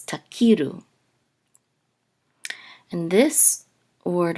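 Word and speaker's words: תכירו: So this is takiru. This is the the trope mark. It's above the kaf, so this is the syllable that gets the accent. So it's takiru.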